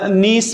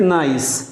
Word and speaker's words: niece: Niece mean भतीजी या बांजी, NIECE. You won't pronounce it nice. niece, भतीजी, भतीजी या बांजी, दोनों के लिए ये इस्तेमाल होती है.